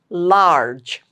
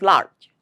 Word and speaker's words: large: Large, large. Don't drop the last sound. Don't say it as large. No, it's large, j.